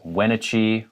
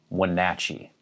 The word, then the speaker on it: Wenatchee: people might pronounce this wenitchie or wenatchee but it's wenatchee second syllable stressed when nachi when nachi